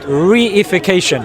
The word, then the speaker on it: reification: Reification. Reification. Yeah, it's one word, but I've just broken it down. 4 syllables.